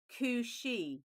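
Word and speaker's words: Cù-sìth: So the second card is actually pronounced Cushi is the green dog of the Highlands and was a strange and formidable creature.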